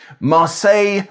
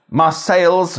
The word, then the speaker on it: Marseille: Churchill also wrote, criticising a friend for pronouncing French place names à la française. Marseille, Lyon and Calais instead of Marseilles, Lyons and Calais.